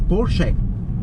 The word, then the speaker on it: Porsche: See how I say Porsche and not Porsche? A lot of people say it wrong. In German it's Porsche. Porsche.